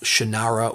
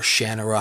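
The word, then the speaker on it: Shannara: Uh this was originally published back in 1997 and at this point Terry Brooks was solely the author of Shinara or Shannera, however you want to pronounce it.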